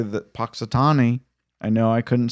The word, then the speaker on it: Punxsutawney: dead and I did say it correctly that Punxsutawney I know I couldn't say it last week but I'm saying it now Punxsutawney Phil there are other animals uh in other